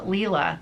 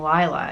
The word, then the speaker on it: Leela: that's like um uh Leela Leela's Studios for years I was saying Lyla and it is Leela so I'm I'm glad